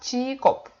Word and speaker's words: 직업: I don't read it like 직 and then op. They're not separate syllables. They're like located in one word. So it's one word, and we have to read it like together.